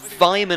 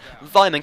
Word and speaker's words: Weimann: Aston Villa, they did have a chance here, and Weimann, I think that's how you pronounce it with a slight German accent. Weimann came close there with the header, but really just couldn't get it on target.